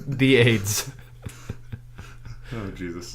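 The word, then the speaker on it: Ayds: ] look this up they pronounce it as aids yeah it's a yds this was like before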